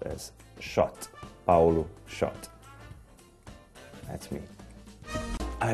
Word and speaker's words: Szot: It should be pronounced as Szote, Paulo Szote.